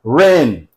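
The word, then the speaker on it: WREN: Ren ren. This W is silent.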